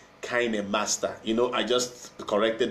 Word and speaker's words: KineMaster: When it's a KineMaster, it's pronounced KineMaster.